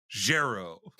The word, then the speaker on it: Gero: card uh gero refurbishments it's pronounced gero my who cares and